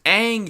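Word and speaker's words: Aang: guys for watching comment like and subscribe it's pronounced ang shyamalan and stay cool dude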